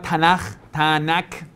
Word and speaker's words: Tanakh: Hoy en día se llama Tanakh, que K al final se pronuncia Ja. Tanakh se pronuncia, pero es K.